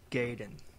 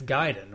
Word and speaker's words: Gaiden: It's pronounced Ninja Gaiden.